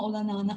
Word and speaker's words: olanağını: arttırdık sığınma olanağın bakacağız ğ harfi var dikkat edelim sığınma derken Ğ harfini düşünüyoruz Bir önceki sesli harfi bir ses uzatıyoruz sığınma olanağını olanağını demiyoruz yeni yumuşak G harfi var düşürdük Bir önceki sesli harfi bir ses uzattık olanağını dinleyelim tek korku